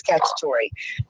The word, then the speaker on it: Cacciatore: And I did find out I am pronouncing his name correctly. It is Cacciatore.